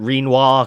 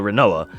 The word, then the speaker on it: Rinoa: Yeah, her name is Rinoa, but the people jokingly call her, like, Renoir, Quinoa, because it's R-I-N-O-A, so it could be Renoir, if you take quinoa pronunciation. We usually just call her Rinoa, but I've heard people